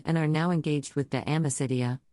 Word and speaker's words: De Amicitia: We finished Livy and De Senectude and are now engaged with De Amicitia, pronounced Dam Isitia.